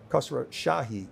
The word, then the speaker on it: Khosroshahi: We're super excited to have Khosroshahi here.